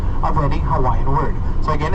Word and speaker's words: Hawaii: Hawaii I said Hawaii so in the Hawaiian language in the Halloween language the abusa always pronounced as a b as a Victor so it's Hawaii but have you know